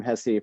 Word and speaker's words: Hesse: people call it saying hess at the conference yeah uh hess is how it's pronounced uh most of america uh it's related to